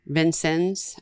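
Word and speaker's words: Vincennes: I was raised up it's spelled way different than they say it Vin sens I think is Vin sens okay you're saying it right you'll have to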